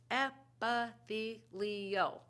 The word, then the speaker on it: epithelial: you think epithelial tissue does can you even pronounce it try it after me app-v leo go ahead and try it good what a